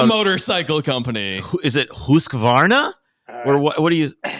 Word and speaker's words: Husqvarna: Is it Husqvarna? Or what do you? Depends on if you're Scandinavian or not.